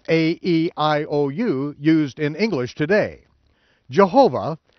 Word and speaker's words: Jehovah: used in English today Jehovah a name that is found in many English Bibles is a hybrid word that is derived by pronouncing the for vowels consonants in adding the vowel pointings for the Hebrew Adonai which means Lord this deliberate misspelling